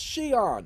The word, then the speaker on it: Xi'an: called xi'an xi'an xi'an that's shion if you don't know how to pronounce that just think of an s with e-e-o-n xi'an okay sean africa is